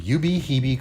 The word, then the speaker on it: Ubehebe: Welcome to Ubehebe Crater. Ignore any of my other pronunciations, that's the correct one.